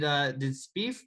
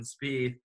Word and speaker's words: Spieth: Did Spieth blow this? Like, how do you say it? Spieffy? Spieth. Spieffy. Good. Kind of, but like he